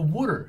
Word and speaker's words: water: They say wooder in Philadelphia.